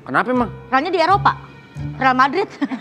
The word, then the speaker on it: Real: Real Madrid. Real, bacanya real Makanya bukan susah real.